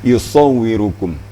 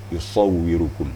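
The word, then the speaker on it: يصوركم: Huwallazi yusawwirukum. Sod juga. Kalau bisa agak melembung pipi sebelah. Sisu, yusawwirukum. Ya.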